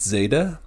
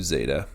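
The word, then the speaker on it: ζ: differences on pronunciation here Some people prefer to pronounce it with almost like a short D at the beginning like Zeta Zeta and some just do Zeta and either way is fine I've gotten in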